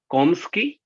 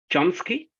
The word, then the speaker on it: Chomsky: other Western philosophers like how do you pronounce it commsky or Chomsky Chomsky yeah Chomsky took that that